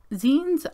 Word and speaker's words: zines: on to those definitions Zen are pronounced like magazine without the mega yeah don't say Z please please don't say